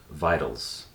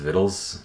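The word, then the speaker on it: victuals: it uh um viles vitals and it's actually pronounced viddles i think it means food i think contextually i understood that but for the longest time when i read it it was always vitals vitals um v-i-t-t-l-e-s the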